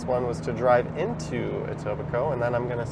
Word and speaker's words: Etobicoke: Etobicoke.